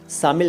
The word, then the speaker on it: शामिल: खूब चलता है, और इसको कई बार शामिल कह देते हैं लोग। वो कोई बात नहीं, कहें कुछ भी, लेकिन आपको पता होना चाहिए कि इसका शुद्ध उच्चारण शामिल नहीं है, शामिल है, यानी सम्मिलित।